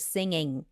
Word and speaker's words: singing: to pronounce the word singing because we don't have this nasal sound in Ukrainian this ngg and she like she